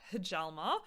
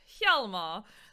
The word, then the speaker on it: Hjalmar: So in between the last game and this game, guys, my chat corrected my pronunciation, and it is in fact not Hjalmar, it is Hjalmar.